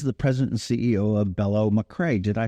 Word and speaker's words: Bello Machre: Ireland who is the president and CEO of bellow McCrae did I pronounce that correctly you did you did okay